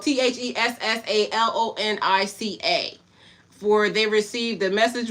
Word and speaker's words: Thessalonica: Now the brethren were of more noble character than those Thessalonic.